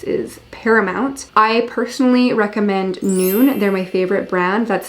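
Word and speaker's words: Nuun: you have electrolytes is paramount i personally recommend noon they're my favorite brand that's spelled n-u-u-n please sponsor me noon send me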